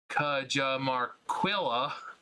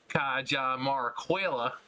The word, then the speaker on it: Cajamarquilla: the dig site of, I'm going to pronounce this as white and American as possible on purpose, Cajamarquilla. Wait, we have to say it like this. Cajamarquilla, about 15 miles east of Lima.